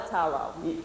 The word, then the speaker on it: talo: accent so a la talo that's how it would be pronounced so every finnish word starts with the accent being on the first syllable and so that makes